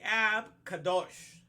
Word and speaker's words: Ab Kadosh: So it was in the day of the Ab Kadosh. That's how you say it in Hebrew, the Holy Father. The Ab Kadosh, that Elohim destroy within